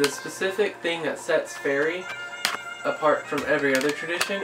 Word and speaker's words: Feri: right now i' practice something called fairy tradition it's spelled f e r i it works mostly with